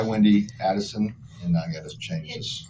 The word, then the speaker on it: Adelson: Okay, I, Wendi Adelson, and I gotta change this. Adelson. I know, I gotta change that. It's okay. It's Adelson. Actually, it's spelled right. I said it wrong. Adelson.